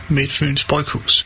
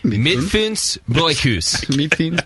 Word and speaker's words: Midtfyns Bryghus: In Denmark, we pronounce Midtfyns Bryghus as Midtfyns Bryghus. Midtfyns Bryghus.